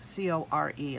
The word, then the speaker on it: Qor: in it these are core paints um it's a q o r but they're pronounced core like c-o-r-e like core so these are made